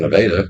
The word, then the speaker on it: Nevada: carridge but uh okay nadaa is spelled the same exact spelling as Nevada yeah but we call it nadaa so well I feel